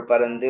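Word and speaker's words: پرنده: ठीक है, आगे आप देखें नेक्स्ट वर्ड है जिसका परिंदा। तलफ्फुज हमारे यहाँ होता है परिंदा। टूटा टूटा एक परिंदा ऐसा टूटा, ठीक है, बट फारसी लफ्ज है ये परिंदा और उसका सही प्रोनाउंसिएशन है परंदे।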